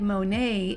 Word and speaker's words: Monet: up one last fun step is to write Monae in the bottom right corner with that white crayon it's spelled m o n t and it'll REM